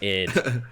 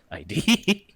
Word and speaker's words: ID: Oh, it's id. Yeah, it's a good song. Yeah. ID. Yeah, I thought that you had to pronounce it like separately, but No, it's like id.